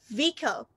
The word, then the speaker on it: vehicle: Actually, ha sound is silent in there. We have to pronounce like vehicle or vehicle, both are correct, but her sound has not been pronounced.